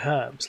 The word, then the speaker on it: herbs: Why is it always and herbs? Because they don't say herbs, they say herbs. Like, are you mainland European? You just drop the H now?